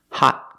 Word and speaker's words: hot: Hot coffee. Hot coffee. It's not ha coffee. Ha coffee? You have to stop the air and make a stop T.